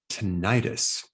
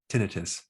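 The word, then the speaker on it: tinnitus: technique on how to stop tentis or you can pronounce it tinius now this technique was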